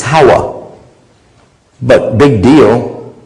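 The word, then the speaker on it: Hawwa: the difference is that the way you say the name of Eve it's howah but big deal it's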